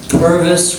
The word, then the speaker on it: Purvis: And remember, Purvis rhymes with Congress.